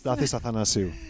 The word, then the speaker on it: Stathis Athanasiou: Stathis the unpronounceable. Yes. It's Stathis Athanasiou.